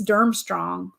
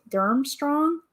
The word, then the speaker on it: Durmstrang: I think it's Durmstrang. Durmstrang? That's how I always say it.